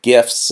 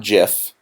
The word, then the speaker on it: GIF: a gift not jiff because graphic doesn't start with a J otherwise that it would